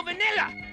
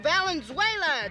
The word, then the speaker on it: Valenzuela: Jesus God is Fernando vanilla vanilla yeah he's my favorite Mexican strawberry you mean Fernando Valenzuela don't you yeah but I I can't I can't pronounce Valenzuela so I say vanilla hi Marianne hi Albert